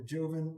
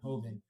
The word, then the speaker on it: Joven: And it was from the Joven region, or Hoven, or is it Hoven. Joven? Hoven.